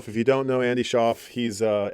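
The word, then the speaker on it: Shauf: So Andy Sha, if you don't know Andy Schoff, he's uh S H Auf very uh great cool artist from Saskatchewan.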